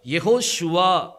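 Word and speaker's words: Yehoshua: என்ன வரணும் வா வரணும் அதனாலதான் யெகோஷுவா அப்படிங்கறது நம்ம உச்சரிக்கிறோம் யாஷுவாங்கிற உச்சரிப்பு என்ன செய்யாது வராது ஏன்னா யா முதலி முன்னாடி வருது அதுக்கு பிறகு சுவா தன்மை வருது இந்த ரெண்டையும் இணைக்கிறதுக்கு நடுவுல என்ன வேணும் வா வந்தாகணும் அப்படி இல்ல அப்படின்னா அது தப்பாயிரும் வேதத்தின்படி அது வந்து என்ன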